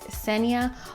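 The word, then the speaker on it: Xenia: mispronounced my first name the X makes an S sound so its Senya almost like just seniya but without the J but as you guys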